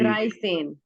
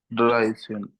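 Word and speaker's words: dreizehn: ड्राई सेन। ठीक है। ड्राई सेन।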